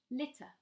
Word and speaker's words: litter: are pronouncing it twice we pronounce a double consonant the same as a single consonant so for example litter but a Russian speaker can pronounce this litter litter so then the middle T is very over stressed this again can form part of your accent so try to just pronounce it as a single letter and ignore the fact that there are two letters there those are my